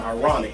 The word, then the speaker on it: Irawniq: Her name is Ironic. That's spelled IRAWNIQ.